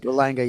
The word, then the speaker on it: Berlanga: You looked at his 2 fights ago against Edgar Berlanga, if I'm pronouncing his name right. Berlanga, yep.